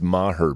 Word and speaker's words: Maher: seriously though it's easy to say and it's pronounced Maher Bill get it right oh that's a good